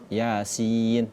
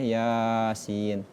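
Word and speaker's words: يس: Sama seperti surah Yasin. Yasin tidak boleh Yasin. Nah itu sudah ee 3 sampai empat harakat. Sedangkan untuk mad thabi'i, kesepakatan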